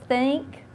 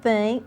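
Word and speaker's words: THINC: Now, I know that's kind of a unique spelling of Think. Mm-hmm. It's spelled T-H-I-N-C. With emphasis on the ink.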